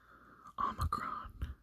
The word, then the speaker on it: Omicron: Omicron is pronounced like the sound in boat or goat.